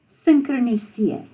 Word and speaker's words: synkroniseer: Synchroniseer. Synchroniseer. And you sort of blend those two sounds and it's like synchroniseer.